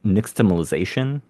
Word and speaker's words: nixtamalization: Another thing I wanted to ask about, kind of surrounding the origins of corn, is nixtamalization. Um, first question, how is that properly pronounced?